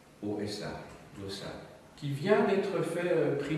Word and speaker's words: Llosa: Llosa, c'est avec deux L, c'est les deux L qui se prononcent mieux. L-O-S-A, Llosa, qui vient d'être fait prix Nobel il y a un mois ou deux.